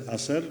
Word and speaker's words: ASER: We spell it as ASER and pronounce it as ASER, not ASER, please, which is a huge